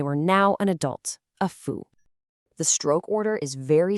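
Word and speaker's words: 夫: This character is fu, and it means husband, or more generally, an adult male.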